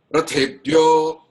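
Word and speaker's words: रथेभ्यो: Actually there is a A. The first word is Rathebhyo. Even so it says it is pronounced like Rathebhyo.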